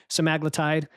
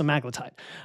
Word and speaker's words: semaglutide: There's a lot of confusion over naming, but I know there's the compound names like semaglutide.